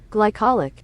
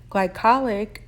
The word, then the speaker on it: glycolic: for its wonderful properties and Skin Care items glycolic glycolic acid in particular is an alpha hydroxy acid